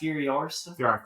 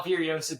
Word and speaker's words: Furiosa: It's pronounced Furiosa.